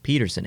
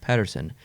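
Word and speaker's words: Pettersson: a Patterson but Canada in Canada he hears people call him Peterson and he likes that so he wants to be called Peterson but his name's actually pronounced Patterson so what regardless of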